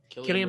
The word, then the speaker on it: Cillian: Is it Killian? Or how do you say his name? Cillian Murphy. He's amazing.